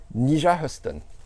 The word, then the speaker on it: Nyjah Huston: Son nom, alors je vais essayer de bien le prononcer, hein, parce que sinon, c'est Nyjah Huston.